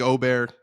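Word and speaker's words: Åberg: Also, Ludwig Ober, it's Ober. That's the pronunciation. Since the Ryder Cup, not on here. It's going to be Aberg for forever.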